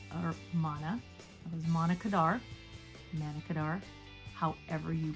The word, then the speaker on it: Manna Kadar: that was man or mana it was monica manna kadar you pronounce it for the june july american influencer